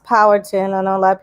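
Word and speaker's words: Powhatan: language and it's pronounced power ttin I know a lot of people say po hattin or pattin it's power like power the TV show but Power like we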